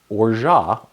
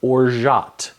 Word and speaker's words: orgeat: It's hard to pronounce. Orgeat or Orgeat.